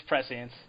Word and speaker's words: prescience: I'm trying to figure out how to pronounce the second word of that. It's prescience.